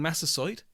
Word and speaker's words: Massasoit: neighbours retreated in horror at the violence, leaving Massasoit, thank you Alan for the correct pronunciation, and the Pilgrims to themselves.